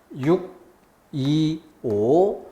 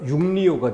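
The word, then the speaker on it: 6·25: 자, 그러면은 625 같은 경우에 6, 2, 5 니은음을 집어넣으면 뭐가 돼요? 6리오가 되죠. 그래서 625 사변 이렇게 편하게 발음해야 될 걸 6리오 사변 이렇게 발음하는 사람 없지는 않습니다.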